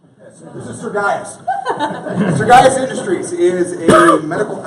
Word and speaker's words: Sergius: Pro Aesthetics design process now sergas is a weird name and sergius is what I called it for like the first two weeks because that's how it's spelled but Marcus sergas in